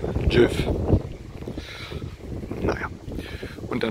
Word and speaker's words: Gjógv: Also der Ort nennt sich Jif. Lustige Aussprache. Jif.